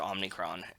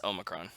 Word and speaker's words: Omicron: The Pat McAfee show calls it Omnicron. It's Omicron. I just think about it from, it's the Futurama thing. Like, I just know that word from Omicron Persei I-8, which is the planet that Morbo's from.